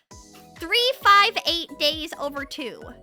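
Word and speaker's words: 358/2 Days: It's actually supposed to be pronounced 358 days over 2.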